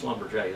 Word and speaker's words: Schlumberger: Schlumberger. Halliburton. Schlumberger in France. Schlumberger is Schlumberger, you know, but it's Schlumberger, that's how you say it.